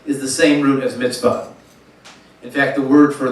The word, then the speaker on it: mitzvah: So in the Hebrew, the original term is mitzvah, emphasis on the last syllable.